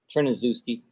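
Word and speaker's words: Tryniscewski: s-k-i ski you have to say his name tryandowski okay yes sir how do you say your name trinizuski all right let's find it real fast okay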